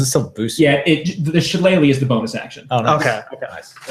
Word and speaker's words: shillelagh: I will do my shillelagh.